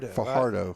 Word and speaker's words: Fajardo: be number 13, Diego Fajardo. I called Kathy. How do you pronounce that? Is that a ya or a huh? It's a huh. Fajardo.